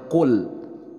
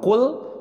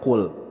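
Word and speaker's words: قُلْ: ada yang baca Qul Padahal di sini adalah huruf qaf jadi bacanya Qul nah tentu ini akan berbeda terhadap makna merubah makna kalau cool pakai huruf Kaf artinya Makanlah dan ini pakai huruf qaf dibacanya cool kalau cool adalah Katakanlah Oke kemudian yang selanjutnya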